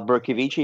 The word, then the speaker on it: Bercovici: up reinvent round ups my name is berkovichi and it's very wise if you Sam to let me pronounce my name first because it always trips up some people I am CEO